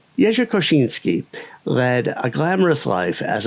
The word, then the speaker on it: Jerzy Kosiński: So now I know that his name or at least the name that he went by was Yay Koshinski. It's strange that English speakers also pronounce the name of the Uni Bomber as Kazinski.